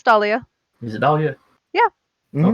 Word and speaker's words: Dahlia: No, it's Dahlia.